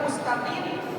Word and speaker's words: مستقيم: Berbeda dalam kalimat mustaqim, huruf sin di sana hendaknya dengan membuka gigi kita.